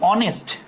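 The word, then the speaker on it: honest: তুমি শুনছো হচ্ছে অনেস্ট। তুমি শুনছো অনেস্ট। ডিসকাশন গ্রুপের এটা অফ করা লাগবে। তহলে উচ্চারণটা কি এখানে উচ্চারণটা কি হনেস্ট তো না তাইলে এটার উচ্চারণ কি অর মত সাউন্ড এজন্য এখানে কি হচ্ছে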